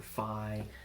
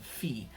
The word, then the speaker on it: phi: numbers like PI or fie fie I spend a degree in college it's actually pronounced P and fee okay PI and Phi